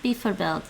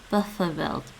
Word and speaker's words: bijvoorbeeld: It's not bijvoorbeeld. It's bijvoorbeeld. Bijvoorbeeld. Bijvoorbeeld. Bijvoorbeeld. Bijvoorbeeld. Bijvoorbeeld. Did you say bijvoorbeeld? I keep messing this up. Because it's spelled like bijvoorbeeld. Bijvoorbeeld. Bijvoorbeeld. Bijvoorbeeld. The sound. God, schwa.